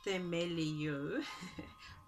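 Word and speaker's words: θεμελιόω: And the Greek word, I think, pronounced themelio for this word founded.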